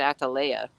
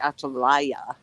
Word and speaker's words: Atalaya: the fireplaces how interesting it also says that you pronounce it i said atalaia so it's actually atelier so and interestingly enough